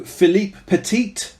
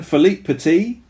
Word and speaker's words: Philippe Petit: thankfully dead and also philippe petit that is not how you say it at all i'm gonna do it again philippe petit did a high wire